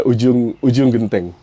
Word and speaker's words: Ujung Genteng: And it's already hard to pronounce it, but Yeah, Ujung Genteng.